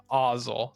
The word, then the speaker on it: Ozzel: 2 cost, Admiral Ozzel.